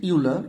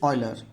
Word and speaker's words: Euler: Don't pronounce it Euler, it is Euler.